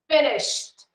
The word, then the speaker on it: finished: Pronunciation here, T, okay? Finished. Finished. Finished. Oh, why, teacher? Why? We write the verb with ed. Why do I have to say with a sound of T? Because the verb finishes with SH. When the verb finishes with SH, like sh, okay, or sh, CH, or S, or X, then we have to, if we add the suffix ed, we change the pronunciation.